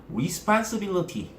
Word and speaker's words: responsibility: 있는 친구들이 있는데, 자, 첫 번째 강세가 O에 걸리고요. 그 다음에 두 번째 강세가 I에 걸립니다. 그러면 그 뒤에 양옆을요, 슈아 처리해주면 되겠죠?